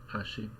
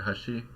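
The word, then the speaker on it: 端: it sounded something like for bridge she said Hashi and for Edge she said Hashi right so it's a less dramatic rise in Pitch but again that may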